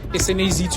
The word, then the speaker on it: Snaz: llamo Snaz the third SNAZ to be spelled Snaz to be pronounced I'm big and bodacious